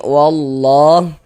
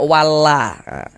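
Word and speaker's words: والله: Selanjutnya di sini wallah ini kita baca wallah jangan dibaca wallaha jangan dibaca kayak gitu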